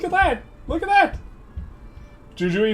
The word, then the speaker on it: Jujuy: Jujuy is pronounced Huhui.